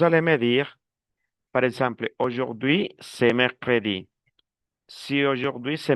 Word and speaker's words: aujourd'hui: Attention, aujourd'hui. Demain, lundi, c'est bien. Continue, continue. Luciana. Aujourd'hui, Ah, ah. mardi. Attendez. Aujourd'hui. La Aujourd'hui, con la U se pronuncia O.